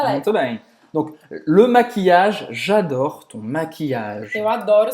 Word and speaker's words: maquillage: Então não termina em no final. A gente vai terminar essa pronúncia no G, tá? E como a Emílio falou, o LL vai ter aquele som de I longo.